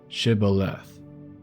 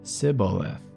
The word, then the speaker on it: Shibboleth: If he said no, then they would say to him, Please say Shibboleth. And he would say Sibboleth, for he was unable to pronounce it right.